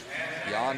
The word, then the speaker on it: Jan: Um, one of my favorite fighters is named Yan Blahovich and he's from the same area and it's spelled Jan.